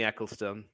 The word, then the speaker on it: Ecclestone: I'm just going to Sophie Eccleston Sophie Eccleston uh if you think of the former formula one had Bernie ecclestone that's how it is Eccleston and